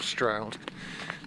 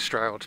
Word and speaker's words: Stroud: and they call it they call it Stroud but um one of the ladies said that her mother uh who had a gluster accent um would have pronounced it something a bit like stoud a bit like strud so um that it